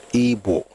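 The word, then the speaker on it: Igbo: By the way, I know I say I because that's how to pronounce the name Ebo and I spell it IBO.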